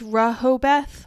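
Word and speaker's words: Rehoboth: awesome too awesome too Rojo both is pronounced Rehobeth oh my gosh I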